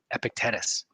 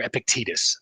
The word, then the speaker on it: Epictetus: This is a quote from Epictetus or Epictetus. I actually looked up the pronunciation.